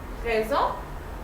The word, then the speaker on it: raison: Also in raison, S is between I and O, so it's gonna be pronounced Z. Raison, which is reason.